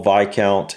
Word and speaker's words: Viscount: Okay, so the S is silent here. So it's Duke, Marquess, Earl, Viscount, and Baron.